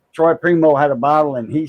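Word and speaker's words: Primeaux: pot s seven pot Primo that's he came up with that variety of pepper and he's a Primo that's spelled p r i m e a ux so anyway uh his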